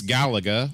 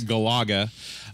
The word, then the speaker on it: Galaga: of all time deluxe Galaga oh yes go Agha depending on how you like to pronounce it I and so yeah